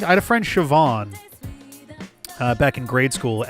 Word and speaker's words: Siobhan: that's interesting cuz like isn't BH the one that's pronounced like a V usually I had a friend Siobhan uh back in grade